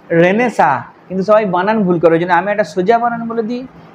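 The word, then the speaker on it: Renaissance: এবার দেখো নবজাগরণ রেনেসা উচ্চারণটা কি রেনেসা, কিন্তু সবাই বানান ভুল করে, ওই জন্য আমি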